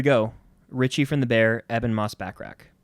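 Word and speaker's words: Ebon Moss-Bachrach: Richie from the bear Evan Moss backrack that's how he say his name to my knowledge I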